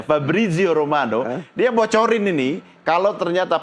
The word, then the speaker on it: Fabrizio Romano: Begitu cara bacanya, Fabrizio Romano.